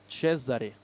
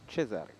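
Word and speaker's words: Cezary: Oh, we actually got a pronunciation of the name in chat. It's Cesare. There we go. Cesare.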